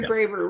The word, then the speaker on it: Braver: up with a friend um and is it pronounced braver or braver garrett raver okay gary braver which is actually a pseudonym for an academic